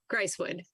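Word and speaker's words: Grisewood: my fault it does it is correct right gracewood g-r-i-s-e-w-o-o-d just my mind playing you're smarter than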